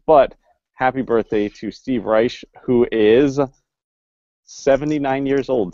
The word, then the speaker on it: Reich: from what I understand it is pronounced rice not Reich straighten it as yet